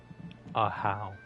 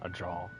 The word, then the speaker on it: Aha: Aha. It's It's pronounced Aha, not Aja.